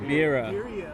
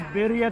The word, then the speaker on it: birria: Say like a gringo, that's why. Birria. All right, Birria. dude. These Birria. birria. I gotta roll the R, right? Gotta roll the R. So these birria tacos are so good.